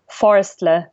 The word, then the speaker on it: Forestle: And back then it was called, if you're German, it's easier to pronounce, it's called Forestle, meaning basically forest plus LE, to kind of pun or to make a pun with Google.